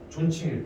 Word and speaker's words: 존: 존. 이거 존이라고 읽어야 되거든.